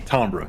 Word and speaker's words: timbre: of your voice noise is that how timber is pronounced i i don't know i decided to make it sound t-i-m-b-r-e tombra is correct it's pronounced then why does it have an i that is an interesting because it's not an english word it's french oh screw the french